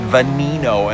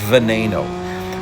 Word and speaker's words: Veneno: A long time ago, I said venino. And man, I got made fun of and it tastes deserved. It's Veneno. Oddly enough, Lamborghini is an Italian brand, but the models are have Spanish pronunciation.